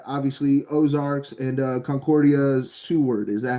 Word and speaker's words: Seward: You uh spent your last couple uh collegiate years at obviously Ozarks and uh Concordia's Seward. Is that how you pronounce it?